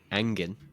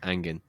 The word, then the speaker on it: hanging: In Manchester, they actually use the word angin, and they don't pronounce the h. And that means a word for horrible. So you could say he's angen. Or this restaurant is angen meaning bad or like horrible.